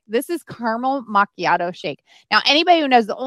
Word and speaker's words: macchiato: So my daily schedule, like that caramel, however you want to pronounce it, macchiato. Macchiato.